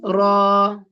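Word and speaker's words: راء: Here it is heavy. Remember the Ra is heavy and light sometimes. So here, as a basic student who doesn't know the Tajweed rules, now let's pronounce the Ra as heavy.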